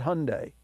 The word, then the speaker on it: Hyundai: has a 2013 Hyundai notice I said Hyundai that's right just like Sunday that's the way you pronounce Hyundai but he doesn't have